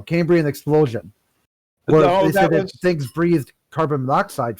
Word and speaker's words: Cambrian: yeah the camber was a cambo camberian i'm pronouncing that wrong okay there we go cambrian explosion things breathed carbon